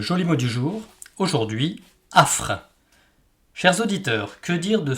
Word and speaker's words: affres: 6 lettres, 4 consonnes, 2 voyelles, mais qui ne se prononcent qu'en une seule syllabe, affres.